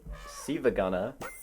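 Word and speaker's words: SiIvaGunner: there's this channel called Siva Gunner. It looks like it's spelled Silver Gunner, but it's not. One of the one of the I's is like uppercase and looks like an L.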